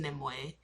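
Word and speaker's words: Nimue: also in the books nimu nimway whatever you however however you pronounce her name well not however you pronounce name her name is pronounced them way her and Merlin are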